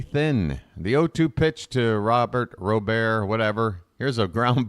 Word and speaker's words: Robert: both ways Derek it's Ro Bear right you got to give it that little bit of a little bit of an accent this pitch is up